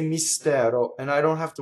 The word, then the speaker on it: mistero: When you sing, you have to make sure that the first syllable is all E and the S is completely on the next note.